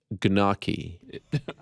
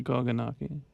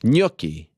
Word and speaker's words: gnocchi: number two wow by the way it's actually pronounced gnocchi i got nervous uh we went over that before the show i just got nervous again is it really koganaki no i i messed that up my bad